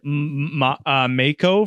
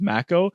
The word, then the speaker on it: Mako: Like I said Mako for the longest time and it's Mako, which now pisses me off Yeah.